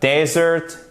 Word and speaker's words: desert: Et vous avez l'accentuation sur la première syllabe. Desert, dessert. Desert, dessert. Donc, non seulement la prononciation de la voyelle change et c'est la même voyelle, I court, E, mais en plus l'accentuation change. Seconde syllabe, première syllabe.